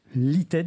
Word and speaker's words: LITED: est le directeur général chez l'ited c'est ça l'ited donc on prononce comme ça ce qui est un spécialiste